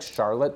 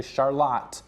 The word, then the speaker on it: Charlotte: that goes to Charlotte, which is spelled like Charlotte. Again, if I haven't really talked about this for a while, but it looks like Charlotte, Michigan, but it's actually Charlotte, Michigan.